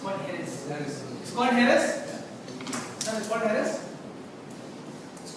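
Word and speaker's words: Jerez: it's called harass it it's written as जे ई आर ई जड बट in Spain it's called हेरेस because anything in Spain with J they called इ दस सो Spanish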